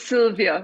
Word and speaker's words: Sylwia: Because it's it's Sylvia with a it's just written with a W.